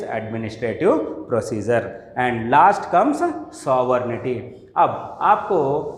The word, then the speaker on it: sovereignty: इसको तकरीबन स्टूडेंट सॉवर्जिनिटी बोल के प्रोनाउंस करते, इसको सॉवर्निटी प्रोनाउंस करना है।